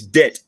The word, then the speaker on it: debt: The second thing, when Senator Dillon is asking about the breakdown of the debt, so it's debt, not debt, so it's debt. So the B is silent.